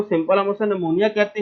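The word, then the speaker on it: pneumonia: ले जी, उसके बाद हमारे पास है जी नमूनिया, ठीक है। ये पी से शुरू होता है, लेकिन बच्चे बच्चे इसे पी से बोलते हैं, पी से नहीं बोलना आपने, पी साइलेंट है, ठीक है।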